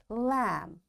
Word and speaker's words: lamb: bomb thumb climb and lamb in all these words you can see B is silent.